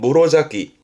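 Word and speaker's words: 室咲き: 요거 언급하는 이유는 발음은 무로자키.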